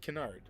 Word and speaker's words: Canard: Yes, Canard.